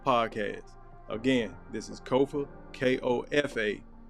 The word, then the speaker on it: Kofa: Again, this is Kofa, K-O-F-A. Not coffee, not kufu, not kofi, or any variation thereof. K-O-F-A. Kofa rhymes with sofa.